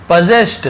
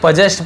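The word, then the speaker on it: possessed: अब यहाँ पे देखिए पजेस्ट, इसे पजेस्ट पढ़ेंगे, पोजेस्ट ऐसे नहीं पढ़ेंगे, पजेस्ट ऐसे पढ़ेंगे।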